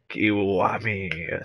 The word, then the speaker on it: Kiwami: foreign welcome back everyone let's continue playing kiwami that's how you pronounce it 14 missions cleared not bad not